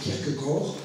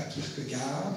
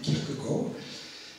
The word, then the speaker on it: Kierkegaard: l'auteur de ce soir je vais le prononcer à la Danoise je vais rappeler Kirk Gor et non pas Kirk garde mais Kirk Gor euh c'est donc comme